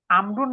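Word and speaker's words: عمرو: আমরুন নামটি লেখা হয় একটি ওয়াও সহ, কিন্তু উচ্চারণে ইহা আসে না। ইহা করা হয় উমারু থেকে পৃথক করার জন্য।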